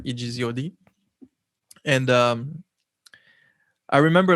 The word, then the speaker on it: Egzod: name first um so it stands for exodus in french it's just like written in the phonetic form so like you know